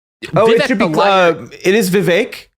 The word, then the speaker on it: Vivek: It is Vivek. He has made clear it rhymes with cake.